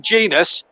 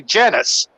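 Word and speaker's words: Jenas: remember, one was Jermaine Genius. A lot of people, when he broke into that Forest team at 17, used to say Genus. Yeah. And then it was Jermaine Genius.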